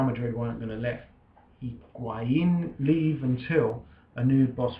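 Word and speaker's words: Higuaín: Higuain.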